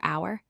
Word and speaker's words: hour: First, words with silent H we use n before hour, honest, and honor because the H is silent.